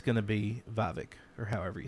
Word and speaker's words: Vivek: That's how that you actually pronounce his name is Vivek.